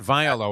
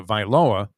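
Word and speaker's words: Tagovailoa: same answer twice and what are we going to go with tango vailoa tango lower is that the correct pronunciation that's what not viola i always put i like the same yeah yeah i always want to throw a little viola in there but it's uh viloa and remember it was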